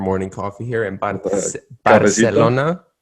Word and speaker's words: Barcelona: coffee here in particular barcelona barcelona and catalan barcelona okay did you get that miguel there's two different pronunciations here uh but anyway